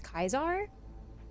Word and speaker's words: Caesar: um the understanding is that Julius Caesar was more likely pronounced Julius kaisar um and potentially that's